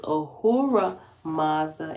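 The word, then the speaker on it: Ahura Mazda: all-sufficient high God and this Uhura is spelled a h u r a apostrophe m a z d a so it's ohura Mazda and ehua Maza Maza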